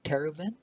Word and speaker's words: Tervuren: Did I pronounce correctly? Tervuren.